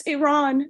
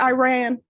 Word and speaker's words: Iran: Paul from Cincinnati and he said it's Iran not Iran and you know what he is correct so the next time we have someone in here from Iran I'm going to say